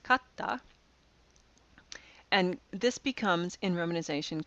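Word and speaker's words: katta: this word is pronounced Kata it's not pronounced katsda it's pronounced Kata and this becomes in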